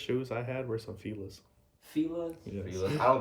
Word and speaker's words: Fila: Fila. Oh, Fila. okay. All right, you got it. I got you. He pronounces the proper way.